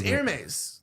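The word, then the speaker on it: Hermès: It's airmes. That's how you say it. Oh, I didn't know that. I always thought it was Hermes.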